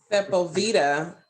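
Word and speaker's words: Sepulveda: five zero five five it sounds like sepal vita lane that's spelled e d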